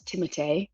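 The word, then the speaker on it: Timothée: In reality, it's Timote. But yes, Tim tim timite like Tim. Yeah, it's it's like the French fench. It's the French pronunciation.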